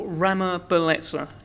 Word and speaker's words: Ramabeletsa: Ramabeletsa. Oh, Have I pronounced it right?